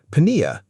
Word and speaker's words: pnea: high carbon dioxide levels; pnea, air, breathing. Note the spelling. It keeps the P from pneumo, so it's spelled P-N-E-A, even though we don't pronounce the P.